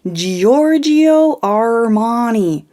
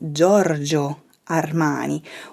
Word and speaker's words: Giorgio Armani: mispronounced is giorgio armani what do i usually hear is giorgio armani be careful you're putting too much emphasis on his name in italian we simply say giorgio armani we don't split up